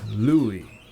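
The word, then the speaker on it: Lughaidh: In Scottish Gaelic, it is sometimes pronounced Lu still, but the old Irish name Lugith is now pronounced Louie, as in Huey, Dewey, and Louie.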